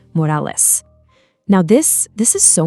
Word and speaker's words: Morales: Our Miles says Morales, you know, the way you'd expect. But Prowler Miles, he gets all fired up and insists on the proper Spanish pronunciation, Morales.